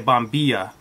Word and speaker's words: bombilla: want to pronounce it in Argentina and Uruguay they pronounced a bomb be shot on be shot the Double L is more of like a shot or jaw sound and everywhere else in the world they usually say bombilla I lived in Argentina